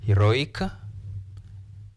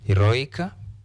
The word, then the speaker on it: heroic: And we are talking about if a word ends in ik sound, we stress second last or next to last. Or you can say stress the penultimate.